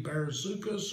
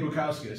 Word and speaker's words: Bukauskas: Jay Barasukas, or however you pronounce his name. He's another type. J.K. Bukauskas.